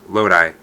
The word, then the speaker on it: Lodi: Lodi, it's not Lodi or Lodi, it's Lodi.